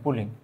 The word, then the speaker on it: Pauling: 1932 সালে বিজ্ঞানী পুলিং, আসলে আমরা বাংলায় লিখে আমি যদি একটু বলতে চাই, 1932 সালে বিজ্ঞানী পুলিং আসলে ইংরেজিতে এটা উচ্চারণটা ছিল PAULING, পুলিং।